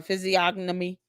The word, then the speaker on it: physiognomy: I don't know why I keep pronounce this word. Uh physiognomy analysis. p h y s i o g n o m y.